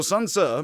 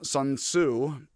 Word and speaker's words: Sun Tzu: So it is pronounced Tzu, which is like tsu, or like tsu.